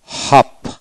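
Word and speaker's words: half: তারপর আসেন এইচ এ এল এফ, হাফ, হাফ, এইচ এ এফ, হাফ, হাফ এখানে এল উচ্চারণ হবে না।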